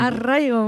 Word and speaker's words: arraigo: rouler du R Arraigo. Arraigo, oui.